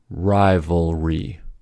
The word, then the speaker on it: rivalry: In these words, the L comes at the end of a syllable, which makes it a dark L. The R sound actually begins the next syllable, so it is a pure consonant on its own. This is why the tongue must move cleanly. L ends one syllable, R starts the next.